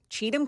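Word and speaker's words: Cheatham: know talk about C someone tell your news lady how to pronounce cheum County that's how is that's how you're supposed to say it isn't it yeah that's that's that's right right is there an alternate pronunciation did you say something different in the newscast not that I know of I don't know I thought it was always Cham County that's what I well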